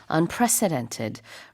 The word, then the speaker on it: unprecedented: exactly 전례가 없다는 뜻이고요 발음할 때는 가운데 있는를 약간 강하게 발음을 해주셔야 돼요 안 그러면은 대통령처럼 들리니까 이렇게 president처럼 발음하지 마시고 predent 좀 조금 발음이 강하게 발음하시면 됩니다 unprecedented rate 전 없는 속도